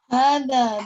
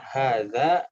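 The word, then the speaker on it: هذا: Hada darsun sahlun. Hada darsun ashalu fil kitabi. Nah, bukan diubah menjadi pelajaran paling mudah. Coba lihat contohnya di atas. Coba. Ya, kalau tadi cara bacanya pun ini ya, hadza darsun sahlun.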